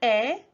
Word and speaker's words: 의: 나 means me, and then that 에, or some people pronounce it 의, depending on who's saying it, that is a particle that shows possession.